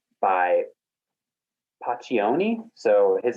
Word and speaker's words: Pacioni: It's by Paccioni. So his name is spelled Pacioni.